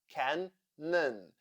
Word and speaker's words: cannon: Cannon, cannon. Here we have 2 syllables and the first one is stressed. So, in the second syllable, letter O sounds like cannon.